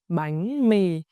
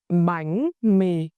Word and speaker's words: bánh mì: for the vowel e, apply the raising sắc tone on bánh, and the low falling tone huyền on mì. Let's start with our step-by-step guide. Bánh mì with 2 syllables. Bánh mì.